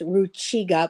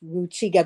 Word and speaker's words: Rukiga: tribal language it's pronounced Ruchiga. It's spelled Rukiga, but it happily be pronounced Ruchiga because of a rule in that language, a phonological rule.